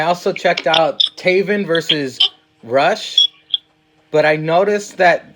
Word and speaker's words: Rush: I also checked out Taven versus Rush, but I noticed that they call him Roosh. What the hell's up with that? I guess that's how they say it in Mexico.